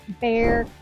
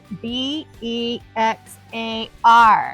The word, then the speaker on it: Bexar: here so it's called Bear County the x is silent somebody decided to put an X in front of a bear and it became Bear